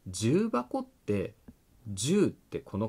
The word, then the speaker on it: 重箱: 重箱の「じゅう」は漢字の音読みです。「ばこ」は「はこ」から来ています。「はこ」は訓読みです。